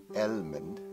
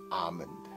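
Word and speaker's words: almond: her but she said it is not called elmond it's called Armand the L is silent so until today I never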